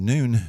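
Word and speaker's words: נון: our letter in and we can say the word noon and that's the pronunciation as well but it's like that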